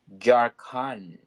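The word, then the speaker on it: Jharkhand: Kerala wow beautiful Kerala uh jaran did I pronounce well yes yes you did J D andu oh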